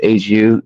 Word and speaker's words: HU: Just HU. It's a Mongolian throat singing band. Do you know who the Who is? HU among. It's like HU, like not the Who, but the band is just called Who.